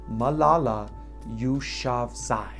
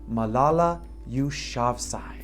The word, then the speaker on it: Malala Yousafzai: and that's actually the name of the book malala yushavsai it looks like malala yousafzai but it's actually pronounced malala you shavzai can you say that with me malala you shavzai it's a pretty cool name right and it